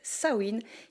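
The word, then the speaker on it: Samhain: Avant les citrouilles et les bonbons, on célébrait dans les pays celes sawiin qui ne s'écrit pas du tout comme ça se prononce l'ancienne fête païenne dédié aux morts et aux esprits.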